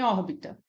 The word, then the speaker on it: órbita: forte né a última em órbita órbita nós temos como cía mais forte a primeira o or que é